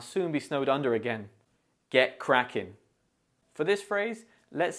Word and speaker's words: get cracking: In get cracking, the stress falls on the word cracking, so you should say crackin. Also, the T in get may be pronounced softly, making it sound like get cracking.